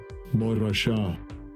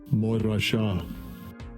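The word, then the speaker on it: מורשה: And I always like to listen to how they pronounce it. Strongs H4181. Morasha. Morasha.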